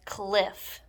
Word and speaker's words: cliff: need to use caution we pronounce this word as cliff one f sound at the end of the word the key word for